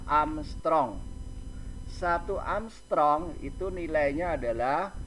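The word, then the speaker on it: ångström: gelombang 7200 Armstrong Nah itu angka A yang diatasnya ada bulet itu bacanya adalah Armstrong satu Armstrong itu nilainya adalah satu kali 10 pangkat min 10 Hai sekali lagi itu bacaannya adalah Armstrong kemudian nilainya adalah satu-satu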